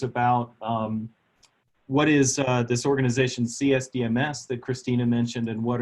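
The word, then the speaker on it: CSDMS: surface dynamics modeling system you can pronounce it with a soft C so it sounds like systems and it is an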